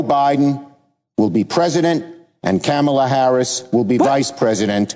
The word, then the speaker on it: Kamala: to pronounce her name just think of the word comma the punctuation comma kamala i i haven't forgotten